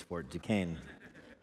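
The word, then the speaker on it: Fort Duquesne: know French people would insist that it be pronounced uh differently than that but we won the war so it's Fort ducain it was deep in the wilderness of the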